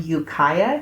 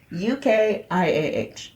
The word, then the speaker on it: Ukiah: He was abducted from Ukiah, California, and that is exactly how you pronounce it, because the documentary said it so many times that there's no way I could ever forget.